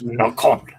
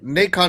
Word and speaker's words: Nacon: Maybe Nacon is pronounced like bacon.